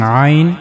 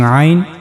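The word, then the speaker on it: ع: So for pronouncing vine you have to use this part of the throat vine.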